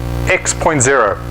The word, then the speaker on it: X.0: So the title of the presentation is Industry X.0, pronounced X.